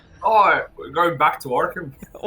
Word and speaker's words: Arkham: I paused briefly because I think I said Orcam. It is, I believe, traditionally pronounced Arkham. Traditionally by North American accents.